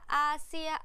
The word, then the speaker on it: Asia: ขอ อีก ที ค่ะ ออก เสียง คล้าย ๆ ช ช้าง แต่ ไม่ ใช่ ซ โซ่ เด็ด ขาด ใช่ ไหม ไม่ ใช่